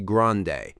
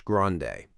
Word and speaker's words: grande: Venti is venti and grande in Starbucks English is usually grande, not the Spanish grande.